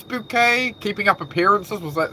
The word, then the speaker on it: Bouquet: Oh, was it Mrs. Bucket? No, it's Bouquet.